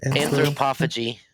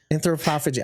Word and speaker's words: anthropophagy: I am Anthropophagy. Anthropophagy.